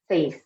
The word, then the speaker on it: seis: So remember when we were pronouncing this one, that the E and the I together is going to make really one sound. So we're not saying like seis, like pronouncing the E and the I separately, but we're saying it as one with seis, seis.